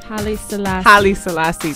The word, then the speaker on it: Haile Selassie: Haile Selassie.